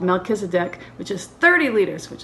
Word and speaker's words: Melchizedek: which is the um mezzakis deck mezza kid mel kiss a deck melchizedek that's how you say it hadn't heard of that